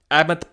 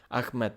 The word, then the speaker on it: Ahmed: They pronounces that H with a slight cough so that it sounds like Ahmed. Yeah, Ahmed. But most English speakers just say Ahmed.